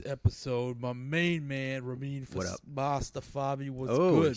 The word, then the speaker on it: Mostafavi: My main man, Rahmein Mostafavi, was good.